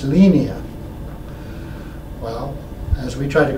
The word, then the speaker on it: Linea: Piero and the other Italians that it's really pronounced lenia well as we tried to correct the Americans here and how to say lenia it suddenly morphed into Linea for a while I put a tagline in